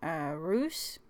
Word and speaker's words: Reus: see I was playing ruse which I'm pronouncing like Zeus with an R because I don't really know how else to pronounce it but anyway I wanted